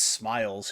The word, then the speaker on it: SMLZ: It's actually pronounced Smiles.